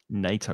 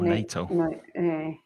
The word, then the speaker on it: NATO: NATO, not NATO, NATO.